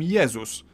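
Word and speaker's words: Jezus: favorite religious figure Jesus in Polish we call him yeus but if we were to pronounce his name the English way we'd write it down as Jesus and lastly G like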